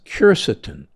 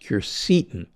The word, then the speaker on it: Quercetin: One of my favorites is Quercetin, sometimes pronounced Quercetin.